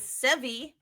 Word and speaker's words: Sevgi: I'm going with Sevi, because her name is spelled Sevgi, but I think the G silent.